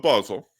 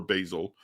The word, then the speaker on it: Basel: Now, the Council of Basel, or Basel, I pronounce it both ways, there's a secretary there named Piccolomini.